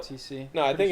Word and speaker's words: ROTC: all old men that probably were like an ORTC. Is that how you say it? R. Would I say OR? ORTC. It's ROTC.